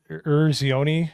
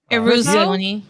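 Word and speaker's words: Eruzione: the guy that played Michael Urzioni, I think is his name, the captain. I always mispronounce it. I'm bad with Italian names. Eruzioni.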